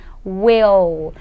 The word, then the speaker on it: will: Lembrando que a letra L, quando a gente está pronunciando em inglês, a gente coloca a nossa língua lá no céu da boca, bem na frente, bem atrás, aliás, desse dente aqui de cima, ok?